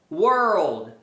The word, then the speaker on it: world: Então quando tem essas palavras que tem o R e o L, geralmente dá uma subidinha. Girl, Carl, world.